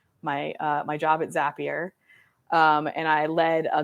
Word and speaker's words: Zapier: Um, Zapier, not Zapier. Yeah, because it makes you happier. So that's how you remember.